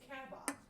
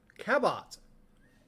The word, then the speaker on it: Cabot: It's Cabot. Cabot. Not with I'm overpronouncing it, but it's Cabot.